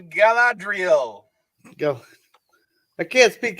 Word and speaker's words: Galadriel: your name was like something like gladreal i'll give it to you it's a galadriel let's go i can't